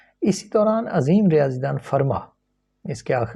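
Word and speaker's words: Fermat: दौरान अजीम रियाजी दन फर्मा इसके आख इसको एफ ईई आर एम ए टी है लेकिन टी को टी साइलेंट होता है फर्मा जो है उसने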